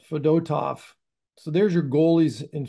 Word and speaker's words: Fedotov: fedotov fedotov fedotov fedotov we thought it was fedotov but we were all wrong of course it's always the it's always the M middle syllable that's the yes rule to live by is the accent fedotov so there's your goalies